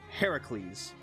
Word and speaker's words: Heracles: So Hercules, in Roman times, he was called Hercules. However, his actual name is pronounced Heracles.